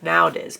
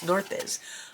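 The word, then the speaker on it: Naudiz: It looks like Nowdiz, but it's Northiz.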